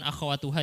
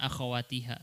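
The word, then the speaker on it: أخواتها: Tadi bukan akhawatuha ya, bacanya akhawatiha, salah.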